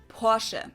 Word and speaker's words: Porsche: Americans pronounce it Porsche or Porsche. Porsche. In German, we say Porsche. So there's like this short E sound in the end. Porsche.